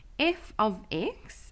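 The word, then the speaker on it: f(x): thing for us here at grade 10 level f of x is how you pronounce something like this so you'll read that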